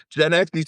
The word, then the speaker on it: Gen Xe: Gen Xe sounds like sexy, baby. Whatever. Gen Xe Ooh, rhymes with Gen sexy. X sounds sexy.